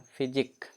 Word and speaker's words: physique: PHYSIQUE, last में है ना QUE, इसको क्या बोलेंगे? फिजिक।